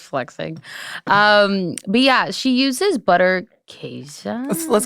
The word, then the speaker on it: Butterkäse: Okay, so I would have said butterkass or butterkass, but I feel like so many Germans have told me that it's pronounced very differently. Okay. So then me now would say Butterkäse.